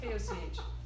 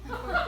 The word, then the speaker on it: Koch: So Liz Koch, who knows, Koch. Koch brothers is how they, the Maleficent oligarchs. Koch brothers. She pronounces it the same way, Koch.